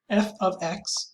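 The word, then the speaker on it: f(x): to cover today so some exercises if f f of x that's how we pronounce it if f of x if the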